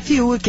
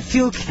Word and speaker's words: Fiuk: corrigiu a nossa pronúncia não é Fiuk é FK ok Quem garante que